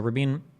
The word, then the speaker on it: Rabin: to argue that like rabine was not like a peace Nick okay so rabine or Rabin I've heard his name pronounced both ways ych RAB or ych